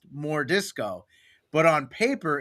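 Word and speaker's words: M'Jordiscau: And so we changed it so it's it's it's pronounced more disco, but on paper it's written as m apostrophe j o r d i s c a u. So it's like mure disco, but everyone calls him more disco.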